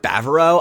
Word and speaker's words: Bavaro: There is not an R after the B. It's Bavaro. So, yeah, sorry.